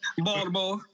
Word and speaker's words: Baltimore: Let me pronounce the T. I'm sorry. Let me be Baltimore, Maryland. Baltimore.